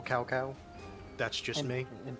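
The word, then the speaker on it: Cao Cao: names is outright offensive it should be General cowcow that's just me and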